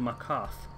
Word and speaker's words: Markarth: I've always pronounced it Markarth. Yeah, that's right there, Markarth. It's got a TH on the end, so it should be.